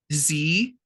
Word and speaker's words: xe: They're Z, Zir, Zirs, and that's spelled with an X.